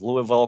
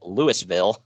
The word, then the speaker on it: Louisville: come out carrying bags christian intentionally mispronounces louisville calling it lewisville which draws booze uh